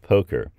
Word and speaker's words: poker: cut off ours in um English dialects uh Poca is the way you pronounce it so it kind of returned to